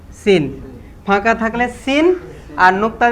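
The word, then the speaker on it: سين: তো লিখার দরকার নাই এরপরে আমরা চলে যাব সিন সিনের কয়টা দাঁত তিনটা দাঁত এই তিনটা দাঁত দেখলে বোঝা যাবে যে সিন ফাঁকা থাকলে সিন আর নুক্তা দিলেন শিন নাকি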